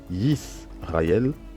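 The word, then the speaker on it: יִשְׂרָאֵל: Ça se lit Shema, Yisraël, Adonai, Eloheinu.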